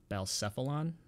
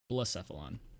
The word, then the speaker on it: Blacephalon: I think it's Balcephalon. Blacephalon. That's right.